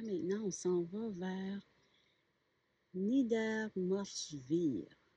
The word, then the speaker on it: Niedermorschwihr: Le W, bien sûr, se prononce comme un V.